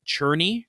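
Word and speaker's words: Czerny: research it is pronounced cherny like you are churning butter okay so that's that's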